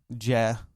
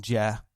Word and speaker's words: Jeh: And oddly enough, I walked by the television and I saw Jeh. I like to call him Jeh. I think it's J, but we'll just call him Jeh because it's spelled Jeh.